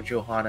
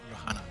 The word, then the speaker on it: Johanna: joanna and blaze for johanna and blaze i believe the technical how you say it in her language is rohana well i was gonna